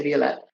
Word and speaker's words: Violette: I say Violette.